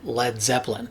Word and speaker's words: Led Zeppelin: irony of naming it led zeppelin now lead is usually spelled with an a l e a d but he dropped the a just so people wouldn't mispronounce it it's not the lead